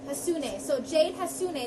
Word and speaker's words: Hassouné: Hassouné. Hassouné. So Jade Hassouné. It's kind of how you spell it, right? Yeah, exactly.